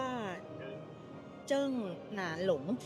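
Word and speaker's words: 鄭南榕: เฉิน เนี่ย นะ เ ชื่อ ว่า เจิ้ง หนาน หลง เจิ้ง หนาน หลง เออ คุณ เจิ้ง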